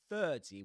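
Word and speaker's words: thirty: So you don't pronounce the letter r because right after it comes a consonant sound, the consonant sound t.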